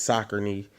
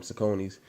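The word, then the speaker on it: Saucony: everybody's wearing new balances sakoni or how they say it's soccer knee but where i'm from we call them soconys uh what's the new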